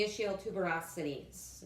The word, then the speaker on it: ischial tuberosities: rooting through on the sit bones face the ischial tuberosities is the correct and map anatomical pronunciation or however you want to think of